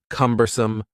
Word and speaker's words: cumbersome: The word cumbersome has 3 syllables, and the stress is on the first syllable, cumbersome, cumbersome.